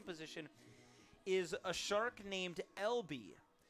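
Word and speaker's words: Elbee: is a shark named lb it's e-l-b-e-e is how it's spelled but it's lb just like Long Beach State lb their initials and L B the name of their mascot but spelled phonetically cool little play on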